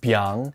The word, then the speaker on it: biáng: that's a lot of strokes this character is pronounced by and it's used in this word which is